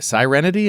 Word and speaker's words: Sirenity: Uh, how about uh Sirenity? Sirenity. Am I pronouncing that right? It's like Siren with an IT.